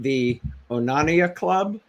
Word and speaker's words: The Onania Club: an upcoming uh horror thriller now am i pronouncing it right the onania club that's correct um yeah i don't know when